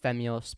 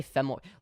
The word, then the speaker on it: Femyoz: It's pronounced Femyoz, but as long as it's close enough. People say Femboy.